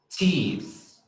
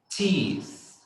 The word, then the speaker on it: teeth: If you look at me, if you look at my face when I'm pronouncing it, you're going to see that my tongue goes out, right? When I say, for example, the word tooth, tooth, teeth, teeth.